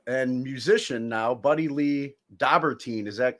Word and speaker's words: Dobberteen: veteran uh uh and musician now buddy Lee dobber teen is that correct pronunciation in your last name yeah perfect awesome